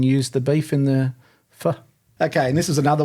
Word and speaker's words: pho: He said, have you ever heard of a beef pho? Is that how you pronounce it? Yeah. Pho.